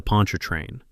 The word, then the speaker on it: Pontchartrain: The Pontchartrain. I was at the Pontchartrain. 4 syllables, and a reasonable doubt the size of the Mississippi.